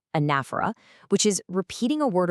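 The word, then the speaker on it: anaphora: Specifically, anafera that is pronounced anafa, which is repeating a word or phrase to really drive a point home.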